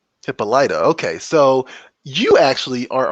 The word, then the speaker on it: Hippolyta: how do you say that i would say hippolyta hippolyta okay so you actually are on the same plane as the tv show lovecraft country because there's a character on that show who has the name hippolyta will say right and one of the actors